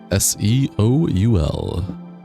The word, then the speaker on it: Seoul: Seoul. I don't want to butcher that name. Is it just Soul? The E is silent.